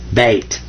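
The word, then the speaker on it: بيت: This says ba, and that means be quiet, like this silent Y is right here in English. This means be quiet. And this is ta, beta, bait. So that's how you say house in Arabic.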